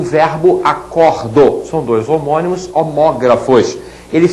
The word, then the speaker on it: acordo: Então, o substantivo acordo tem um som fechado, o verbo acordo que tem um som aberto, portanto a pronúncia é diferente, mas eles se escrevem da mesma maneira.